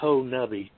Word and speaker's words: Honobia: And I got to learn to pronounce it right. It's Honobia according to the locals. I've been saying it wrong since I've been here.